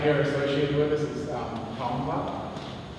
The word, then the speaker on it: Tongva: Another name that you guys might hear associated with this is Tongva, or Tongva. You don't really pronounce the G in our language, but this word was,